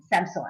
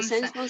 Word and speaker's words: Samsung: I decided to buy Samsung again.